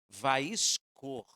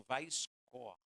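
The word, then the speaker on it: וַיִּזְכֹּר: O termo em hebraico que foi traduzido por eh e lembrou-se é vaiscor. Alguns pronunciam vaiscó, né?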